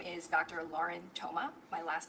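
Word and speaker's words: Thoma: Lauren Toma. My last name is spelled T H O M A.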